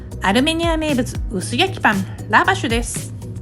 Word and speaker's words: lavash: アルメニア名物薄焼きパンラバシュです。ガイドの発音だとラって感じでした。